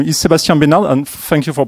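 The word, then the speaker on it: Sebastien Benard: so with this guy so my name is Sebastien banal and thank you for pronouncing it right because even in France people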